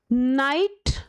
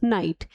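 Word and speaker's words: knight: तो के एन ई डब्ल्यू एन के साइलेंट हो जाएगा। नाइट और नाइट।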